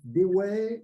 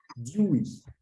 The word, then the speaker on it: Dewey: c'est un philosophe de le nom est souvent mal prononcé en France et parfois appelé desway il dit ouais et c'est une erreur comme le sait toute personne s'étend intéressée à la phonétique anglaise de près ou de loin ou bien connaissant la série télévisée Malcolm et qui s'est pertinemment que la prononciation correcte et DIY alors ça c'était pour